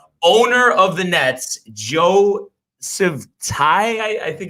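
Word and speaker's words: Tsai: The Squawk Box Barclays Center, owner of the Nets, Joe Sivtai, I think it's pronounced, but they were doing a one-on-one interview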